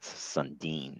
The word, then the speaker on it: Sundine: Um so that's a Finnish name. It's Matt Sundine. That's how that one's pronounced.